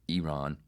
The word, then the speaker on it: Iran: But this mouth, at least I can pronounce Iran correctly. Iran.